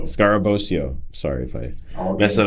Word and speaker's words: Scarabosio: I say it right I I said it scarabosio scarabosio sorry if I mess that up he is